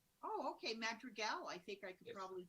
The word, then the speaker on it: Madrigal: Madrigal. If you speak Spanish, it's Madrigal. Oh, okay, Madrigal.